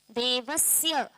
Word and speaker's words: देवस्य: आगे क्या है देवस्य इसको कई लोग बोल देते हैं देवस्य श नहीं है ये स है स देवस्य वैसे उधर भी तत